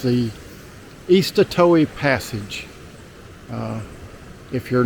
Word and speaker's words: Eastatoe: Again, it's the Eastatoee Passage.